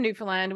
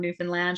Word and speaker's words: Newfoundland: There's an artist I'm from Newfoundland, which is an island off of the east coast of Canada, which is fairly unknown even by Canadians.